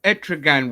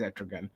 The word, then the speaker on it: Etrigan: we just you know etragan was really good as well I always mispronounced his name I think it's etragon yeah you're right etragon yeah